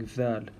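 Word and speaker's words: ذ: And Dal has a brother or a sister, and its name is Dhal. And I really want you to concentrate on the way you're pronouncing Dhal. So the tip of the tongue goes under the front 2 teeth, and you say Dhal. Don't allow your teeth to touch each other.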